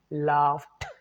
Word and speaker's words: laughed: Even though it sounds like laughed, actually, it should have been pronounced as laughed, not d sound. It's t sound.